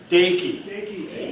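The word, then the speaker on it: Dakai: On to our next presenter, though it's spelled D A K A I. Say it with me as it was one of the most mispronounced names in all of NEPA. DIY DIY.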